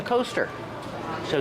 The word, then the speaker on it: coasters: a cup on the coaster so these are called coasters use the long o sound like no and go co coasters these are called coasters